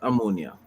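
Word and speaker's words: Omonia: name is is ammonia amania I don't know the name it's that sort of oh but it's pronounced ammonia right like the chemical ammonia right right the team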